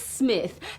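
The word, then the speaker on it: Psmith: Actually, it's it's Smith. P S M I T H. The P is silent as in bath.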